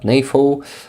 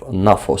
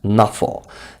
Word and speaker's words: NAFO: it should be pronounced nafo not nefo he's uh himself is a Polish guy uh and he is not using the like English typical English or American version of pronunciation of these letters um so I can